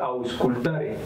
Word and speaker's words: auscultare: Bueno, el verbo escuchar viene de una palabra en latín que se pronuncia auscultare, y esta palabra se divide en dos.